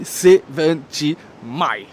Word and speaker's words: 70mai: dire c'est V mai c'est la marque elle-même qui m'a dit comment le prononce respectez-les on dit 7 mai aujourd'hui j'ai donc l'honneur